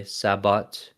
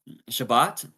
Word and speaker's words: Shabbat: it talks about Sabbath or Elijah would Say sabatabot. Shabbat.